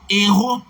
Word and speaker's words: héros: Et vous n'avez pas besoin de peser sur la lettre H pour faire sentir qu'il s'agit d'un H aspiré. La lettre H ne se prononce pas en français.